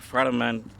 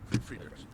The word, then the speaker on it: Friedrichs: Now, when these, in the case of the Friedman, am I saying it right? Friedrichs.